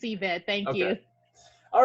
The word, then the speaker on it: Yvette: I feel like I mispronounce it every other time. No, you're fine. It's Yvette.